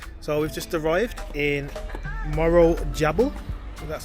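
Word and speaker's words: Morro Jable: this is magic so we've just arrived in Moro jabble that's how it's pronounced part up birth Rover here beautiful little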